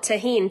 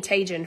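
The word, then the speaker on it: Tajín: I don't really care I called tahin Tajin for a long time until the Blessed Soul was so kind to tell me I was saying it wrong bless sorry I just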